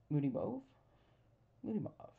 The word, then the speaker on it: Moody Mauve: with Moody mauve right Moody move I'm trying to think now everybody there's so much discussion about how to say it I think I say moody move I was trying to